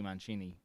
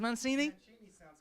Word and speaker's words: Mancini: it Matt it is Mancini man Cheney is there's an English soccer Italian soccer coach called them Roberto Mancini and that's how it's pronounced in Italy so I kind of